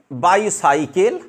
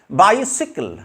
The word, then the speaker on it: bicycle: अछि ना भूल अछि option number 1 बाइसाइकिल option number 2 बाइसाइकल आपन एटा यूज करूछंती ऑप्शन नंबर 3 बाइसिकल तो एमान को भितर कोटा ठीक हबो which is the correctly pronounced word option number 3 इज the correct answer this is बाइसिकल this is बाइसिकल this